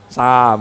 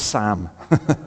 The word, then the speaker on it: Psalm: You have to open your mouth wide and go Sam. Okay, it's Sam. Like Sam with a little S, you know, and a P in there, but it's Sam.